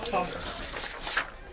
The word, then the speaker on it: Collier: how do you pronounce this last name? Collier.